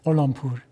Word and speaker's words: Gholampour: I hope I've pronounced your name correctly. Yes, it's correct. Gholampour.